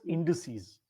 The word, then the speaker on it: indices: chat indes indices indices you pronounce it as indices so index is single